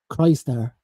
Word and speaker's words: Crystar: So, how did you pronounce it? What did you say? Crystar. Yeah, Crystar. That's how I looked at the word and said that's Crystar. It's spelled Krystar, like so. So, but G-Force basically told us it's Crystar.